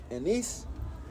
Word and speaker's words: anise: Woe unto you, scribes and Pharisees, hypocrites, for ye pay tithe of mint and anise, that's how you say it, cumin, and have omitted the weightier matters of the law, judgment, mercy, and faith.